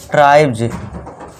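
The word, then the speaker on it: tribes: वाई ओ इसके पहले एस के पहले अगर आपको दिख रहा है इनमें से कुछ भी तो बस आपको वहां पे एस का उच्चारण दोस्तों क्या करना है? ज करना है। सॉरी दोस्तों ज करना है। यहां ज होगा।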